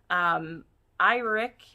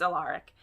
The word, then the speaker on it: Alaric: This is a menage between Ursa, the Sea Witch, Iric, is that how we say his name? Or is it Alaric? It's Alaric.